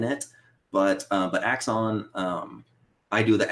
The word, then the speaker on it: Axon Punk: no no no no you're saying it right yeah axon excellent yeah yeah we get axiom a lot we don't have the i in it but uh but axon um i do the